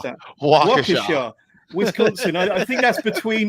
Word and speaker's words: Waukesha: How do you pronounce that? Waukesha.